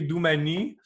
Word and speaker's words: Doumani: Oui, vous savez, en Corse, on ne prononce pas la voyelle finale. Donc, ça s'écrit laboratoire Doumani. Mais ça se prononce laboratoire Douman, en gros.